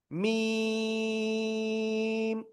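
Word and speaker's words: ميم: মিম।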